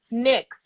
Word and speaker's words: Nyx: the sex i guess um ernie chill um nyx am i saying it right next yeah next yes how did you come up